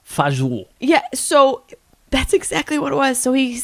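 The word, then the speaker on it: fagioli: one of the bangers how did you do faggioli pronounced fajou yeah so that's exactly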